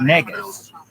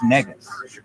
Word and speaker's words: negus: ESPN scripts spelling bee, where it's like negus. The word is negus. An Ethiopian king, negus. Negus. Use it in a sentence. A negus is an Ethiopian king.